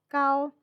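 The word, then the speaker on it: 糕: the word for cake here they're both pronounced gao this is why nyengkao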